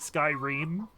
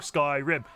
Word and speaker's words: Skyrim: Until I heard them say it in game, I was pronouncing it skyream. Reaming along. Skyrim. Skyrim. The rim of the sky.